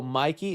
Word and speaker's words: Mikey: Is it pronounced Mikey? I keep saying Mickey. My bad. I keep saying Mickey. That's my bad. Mickey or Mikey. Mickey Madison. Mikey. Jonathan. Thank you. Mikey. Mikey. I'll remember that.